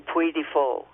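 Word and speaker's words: Puy du Fou: back to France and I would go to Puifo. Now, that's spelled P U Y D U F O U.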